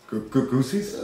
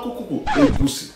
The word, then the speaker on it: egusi: Can you pronounce it? Goosies? No, EGUSI.